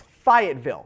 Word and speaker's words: Fayetteville: at number 10 overall it's Fayetteville excuse me they've like a bunch of wise and T's and ease that don't actually get pronounced fired Ville Arkansas